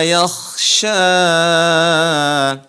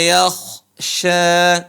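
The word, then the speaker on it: يخشى: ya akaas bagus wahua yaksya huruf k ditebal wahua yakhsya bukan dibaca wahua yaksya yak yakh yang benar adalah yakhya jadi tebal atau disebut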